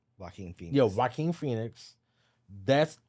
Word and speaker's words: Joaquin: Joaquin Phoenix. Joaquin. So the J silent.